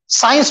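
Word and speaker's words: science: चलिए, tell me, इसमें क्या साइलेंट है? सी साइलेंट है ना भाई. साइंस बोलते हैं हम, कॉमन वर्ड है साइंस.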